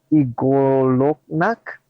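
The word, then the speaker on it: Y'golonac: no okay uh uh how do you say it is y-g-o-l-o-n-a-c kinda Igor look knock got it something like that yeah these guys have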